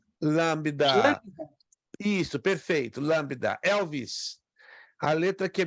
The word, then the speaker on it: lambda: R essa letra aqui que minha mãozinha tente pronunciá-la lambida lambda isso perfeito lambda Elvis a letra que a minha mãozinha tá